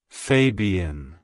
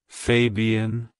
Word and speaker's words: Fabian: background it's pronounced as Fabian Fabian Fabian to pronounce it correctly emphasize the first syllable fa Y and the